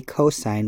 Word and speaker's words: cos: number two the cosine which we abbreviate cos we still say cosine when we see this but we abbreviate it cos now the two sides of the triangle that form the cosine ratio are the adjacent